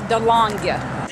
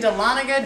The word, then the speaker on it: Dahlonega: Well, we would tell you the name of this place, but I'm afraid I'll mispronounce it. Dahlonega, Georgia. What do you say that it? I think it's Dahlonega.